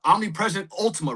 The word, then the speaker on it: Omnipresent Ultima: Well, then how did that get you guys into Let's go into the Omnipresent Ultima, right? I did pronounce that right?